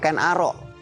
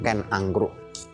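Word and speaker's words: Ken Angrok: di radio dan televisi, saya selalu mengatakan bacanya bukan Ken Dedes, bacanya bukan Ken Arok tapi Ken Dedes. dan Ken Angkruk.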